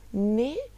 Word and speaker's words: né: Então, ne em italiano tem essa pronúncia do E muito fechada, ne, enquanto no português fica nem.